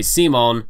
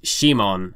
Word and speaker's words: Shimon: see from G Lagan I say Simon because that's what the dub used in in Japanese dub it's Shimon I believe which I mean